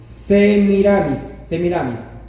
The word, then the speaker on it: Semiramis: Déjame pronunciarlo bien. Semiramis, que aparece en la leyenda de Ninus.